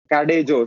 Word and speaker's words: Cadejo: Cadejo, CADJO .dev is your website. Yeah, cadejo. We pronounce it cadejo.